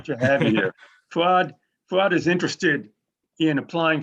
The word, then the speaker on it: Fuad: It's Fridays with Sandy, and we're here with Fuad. I hope I pronounced that right. Fuad, why don't you say hi to the folks? Yeah, my name's Fuad.